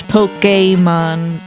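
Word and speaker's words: Pokémon: The the official pronunciation is Pokemon by the way because it's like the accented E in a resume.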